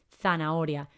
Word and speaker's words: zanahoria: y a la ahora tiene una h en el medio así que cuidado porque no tiene ese sonido aspirado que hacemos no zanahoria hay que recordar pronunciarla bien y escribirla con la